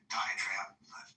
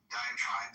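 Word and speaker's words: diatribe: Um and by the way, the more I think about Genesis diet trade um diet trap, how do I pronounce that? Diet tribe tribe. Diet tribe.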